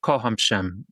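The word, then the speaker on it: kocham: Kohhamm Kohhamm.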